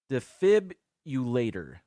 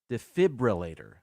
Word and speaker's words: defibrillator: all right number seven people say defib ulator def fibulator but there's an r in there it's actually pronounced defibrillator I get that I'm